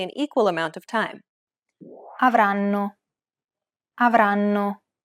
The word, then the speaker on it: avranno: Notice how each syllable is pronounced for roughly the same amount of time? The first N is held for roughly the same amount of time as all the other syllables.